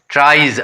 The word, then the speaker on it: tries: जैसे देखिए PLAYS, pledge, यहाँ वाई का ई जैसे प्रोनाउंसिएशन हो रहा था, प्लेज हो गया। TRIES, ट्राइज, आई का ई हो गया, ई साउंड आ रहा है।